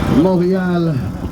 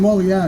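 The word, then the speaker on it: Montréal: I had a lot of fun saying Montreal. You know, like when I was in Montreal. You really pronounce it. You really roll the R off really well.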